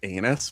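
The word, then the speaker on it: Enus: And it is pronounced anus, but we don't say Oh, that's right.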